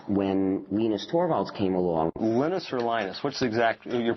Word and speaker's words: Linus: it's the units when I speak Finnish it's Linus when I became and I really don't care how people pronounce my name but Linux is always Linux